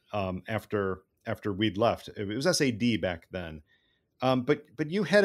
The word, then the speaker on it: SAD: So let's establish that first, the SAD, and it was never pronounced as SAD, unlike many acronyms that become the word they look like.